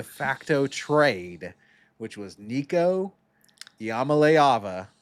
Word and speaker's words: Iamaleava: first ever de facto trade which was Nico Yamamaava. It's the last time I'm going to pronounce his name correctly.